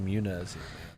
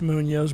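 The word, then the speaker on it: Muñoz: I'm gonna go Johnny Muniz. Hell yeah, solid pick, dude. That's It's Munoz, by the way.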